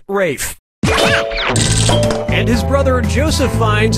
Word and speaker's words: Ralph: four yeah ray Fiennes first name is spelled like Ralph but pronounced Rafe and his brother Joseph